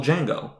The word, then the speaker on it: Django: to pronounce it okay this D is silent that little interchange that's